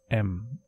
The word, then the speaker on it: em: I would like to use a keyword called M, which is spelled as EM.